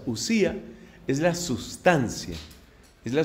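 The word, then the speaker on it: οὐσία: substancia mientras que sustancia en griego se dice ussía que se escribe con con el diptongo o omicron épsilon omicron épsilon o si a la uci us pronuncia ussía es la sustancia es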